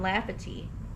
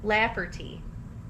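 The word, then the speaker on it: Lafferty: of his brother Ron laughy laugherty I said it right the first time said it wrong the second time who claimed to have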